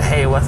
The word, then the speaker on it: Haworth: We're now at Haworth, as it's turned out it's pronounced, after the bus driver corrected us.